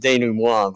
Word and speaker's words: denouement: I just have to say, like, I mean, I would pronounce it denouement, but you know.